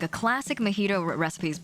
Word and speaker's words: mojito: mispronounce things so um a mojito um is is supposed to be a mojito but i like i just like to call it a magito because it's fun that